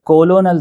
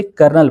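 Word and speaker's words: colonel: तो आपको यहां पे जानकर हैरानी होगी कि यह जो स्पेलिंग होती है जिसे कोलोनल देखने में लग रहा है, असल में इसे कर्नल पढ़ा जाता है। यहां पे एल का साउंड हज़फ कर दिया गया है और आर का साउंड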